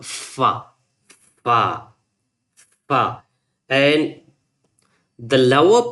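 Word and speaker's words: ف: So, that's called fa. To pronounce it completely, fa. Fa. When you touch the upper teeth with a lower lip, you can pronounce easily fa.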